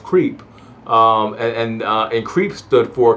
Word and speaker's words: CREEP: an organization called creep CRP pronounced creep and in creep stood